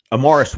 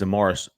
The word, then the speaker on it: Amaris: By the way, it is Amaris. By the way, I think I've been saying it wrong. Can you believe I've been saying the name wrong? Not Amaris, but it's Amaris. He is in Auburn.